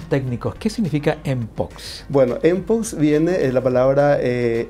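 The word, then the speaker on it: mpox: Qué significa enox bueno empo viene la palabra eh m de Monkey y pox de viruela eh Son palabras en inglés y como en inglés la m se pronuncia m verdad Entonces es empo eh resulta que la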